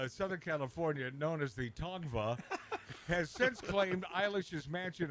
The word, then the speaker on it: Tongva: So the local The X is silent. the local tribe here in Southern California, known as the Tongva, has since claimed Eilish's mansion in Los Angeles is on their ancestral land.